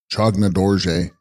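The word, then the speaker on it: Phyag na rdo rje: Text, Fyagna Ridorje, pronounced Chogna Dorje, bearing the Dorje in hand, Sanskrit Vajrapani, and text, Scrib Pa Ranamsel,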